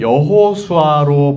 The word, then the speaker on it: 여호수아: 구약에서는 히브리식으로이 이름을 여호수아로 발음했습니다.